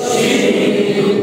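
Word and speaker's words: ش: তিন নক্তা দেওয়া হয় তাহলে নাম কি হবে শিন আরেকটা হরফের মধ্যে কিন্তু তিন নক্তা গেছে হরফটার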